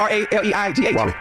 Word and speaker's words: Raleigh: But it's spelled r a l e i g h. That's Raleigh. Close enough.